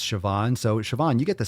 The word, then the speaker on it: Siobhan: And you can have fun pronouncing or spelling her name, saying congratulations, Siobhan, but it's Siobhan.